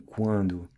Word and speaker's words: quando: Whereas in Portuguese, your tongue never hits the upper part of the mouth when you say the quan in quando. And just as we saw earlier how words ending in to, like espírito, are pronounced with a U sound, the same goes for words ending in do, like quando.